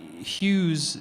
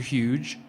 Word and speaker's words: Hughes: a little fun with my name there uh Hughes is a uh is a Welsh name and